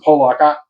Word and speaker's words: Pollock: I mean, they pronounce it Pollock. That seems weird to me. It looks like Pollock, but Bryce had a good game, and he's Tech's top corner at this point.